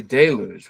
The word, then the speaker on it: deluge: I would say deluge with the emphasis on the first syllable.